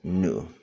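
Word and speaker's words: ν: okay um that's a this is a symbol symbol and pronounce as new okay this SI unit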